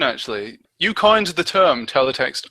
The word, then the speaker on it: Teletext: I get it now I've been pronouncing it incorrectly it's teletex and not teletext a so I'll have